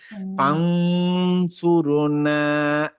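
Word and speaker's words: فَانْصُرْنَا: হ্যাঁ, এখানে দেখেন মাওলানা ফানসুরনা ফাং ফাং নট ফান ফান বললে আপনার কোনো গুন্ডা হচ্ছে না, ক্লিয়ার নুনের উচ্চারণ হচ্ছে। আমি এখানে হচ্ছে, ক্লিয়ার right. উচ্চারণ করবো না, আমি গুন্ডা উচ্চারণ করবো, তাহলে হবে হচ্ছে ফানসুরনা।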